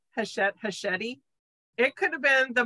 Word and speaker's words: Hachette: I mean, it was Hachette. Yeah. Rhymes with spaghetti.